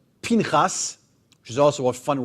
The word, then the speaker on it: Pinchas: And so if you pronounce his name, you have to say Pinchas, because Pinchas is much more fun to say.